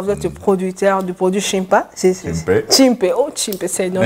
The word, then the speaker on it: Cimpe: C'est la meilleure prononciation, je crois, c'est Chimpe.